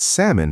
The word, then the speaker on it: salmon: Oh, and I was absolutely certain that salmon had a sound L that should be heard. Newsflash, it absolutely doesn't.